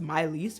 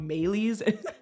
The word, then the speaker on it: Maelys: It's technically French and pronounced Myiss, but I always thought it was called Mees.